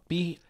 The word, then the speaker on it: pito: Pito. But it is P-I-T-O, but it's pronounced Pito.